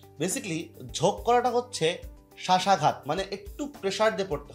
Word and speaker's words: শ্বাস: বফলা কিন্তু উচ্চারণ হলো না। হ্যাঁ, অনেকে এটা যদি কেউ বলে যে শবদেশ, এরকম কিন্তু না, সবাস এরকম কিন্তু না, একদমই না। ঠিক আছে, এটা কি হচ্ছে মূলত, এটা হচ্ছে শ্বাস, বফলা উচ্চারণ কিন্তু এখানে হলো না।